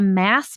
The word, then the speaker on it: MASS: It's called the mass method, marketing as a system, rhymes with sass.